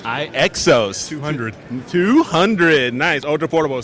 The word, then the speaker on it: iXOS: How do you pronounce it? iXOS. iXOS.